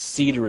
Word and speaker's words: CIDR: called classless interdomain routing cidr or cider I've heard it pronounced Cedar as well what cider basically does